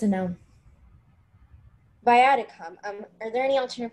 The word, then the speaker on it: viaticum: viaticum.